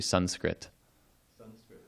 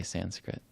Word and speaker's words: Sanskrit: actually Sanu taught me it's actually Sanskrit srit yeah but the American tongue tends to say Sanskrit so thank you for